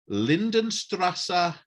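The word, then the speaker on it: Lindenstraße: Lindenstrasse or Unter uns?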